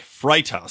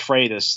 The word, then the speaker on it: Freitas: American Statesman the Nick fright house story am I saying that name right it's pronounced freitas like frito Freitas Great Train like